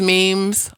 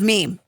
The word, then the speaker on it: meme: has a cancellation yes yes yes people these memes are the best what's first time let's talk about the word meme how you say it well I've been approached